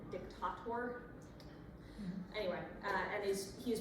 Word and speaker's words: dictator: just for nerd's sake the uh Latin pronunciation of that would have been dictator anyway and is he